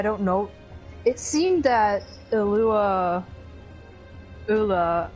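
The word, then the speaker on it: Eula: her brother i believe her real name is illua it's spelled e-u-l-a yeah she took over his mantle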